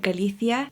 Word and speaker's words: Galicia: pattern is called galithia now if you're from spain and you speak the proper spanish you would pronounce it like that sort of with a zed type of sound galithia i'm from south america and here we say galicia so that's how it sounds more natural to me i'm glad i can